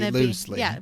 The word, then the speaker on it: Tobe: but it has to be mentioned Really for pronounced Tobe.